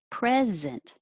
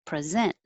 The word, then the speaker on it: present: And 12 can be a noun, and the stress is on the first syllable, present. Or it could be a verb, and the stress is on the second syllable, present.